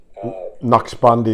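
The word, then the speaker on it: Naqshbandi: the nak shabi order KN bandi is the way I heard it pronounced but what do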